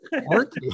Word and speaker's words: Orkney: And I know how to pronounce it correctly now. Orkney, yeah, that's right.